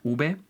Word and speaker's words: uve: Again, both letters B and ube make the same sound B, like in the words book or bank.